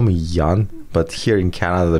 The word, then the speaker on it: Jan: So it's pretty funny, like, cause even like ask how spell my name, I said Y-A-N, so they can pronounce it properly, Jan instead of Young or Jan.